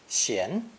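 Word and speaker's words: 閑: this original version is pronounced second tone shien sien and refers to empty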